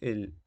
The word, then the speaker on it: へ: ejemplos que circulan en ese tipo de contenido pero el significado es prácticamente ese regresar y luego tenemos la partícula e que tiene algo muy curioso que justamente se pronuncia e pero se utiliza el